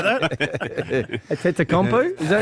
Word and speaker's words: Antetokounmpo: Giannis Antetokounmpo was ejected for headbutting during the Bucks' penultimate regular season game.